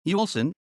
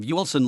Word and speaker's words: Uelsen: yolsen german pronunciation lsn is a community in the district of graf shaft bentham and lower saxony the community of yuelsen lies in westernmost lower saxony on the border